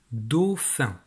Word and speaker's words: dauphin: C'est le dauphin. Dauphin. Petite précision, dans la syllabe do, c'est le O de jaune.